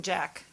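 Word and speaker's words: Jacques: of Southern California so everybody was like Martin Jack were it sounds like shocked but I was told that he pronounces it jack yeah this is a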